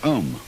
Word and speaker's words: Om: mantras is of course the sound ohm that sound is used because if you spell it out a um it runs from the back of your throat to your lips and therefore it contains the whole range of the voice and for that reason